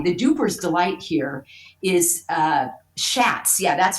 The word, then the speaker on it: Schatz: Now, this guy, the duper's delight here, is Schatz. Yeah, that's how I pronounce his name, Brian Schatz.